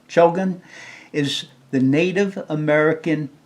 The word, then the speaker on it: Chogan: a point of information Shogun Cho c-h-o-g-a-n as pronunciation Shogun is the Native American name for a black